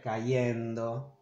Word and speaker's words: cayendo: In these cases, it's not yendo, but Yendo with a Y. I mean, especially in Argentina, in Uruguay, we say yendo, yendo. Phonetically, in Spain, it'll be the same, and in the rest of Latin America, caer, cayendo, traer, trayendo.